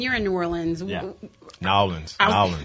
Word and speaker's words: New Orleans: Nowlands. No, you got to say it right. You got to say New Orleans. It's not New Orleans. It's New Orleans.